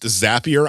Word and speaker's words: Zapier: I reached out to zapier and they told me in quotes zapier makes you happier which is much better